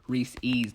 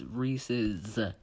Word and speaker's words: Reese's: It is not Reese's. Look, there's an apostrophe. There's an apostrophe for that reason, dingbats. It's Reese's. Well, looks like 58% of people know how to pronounce it.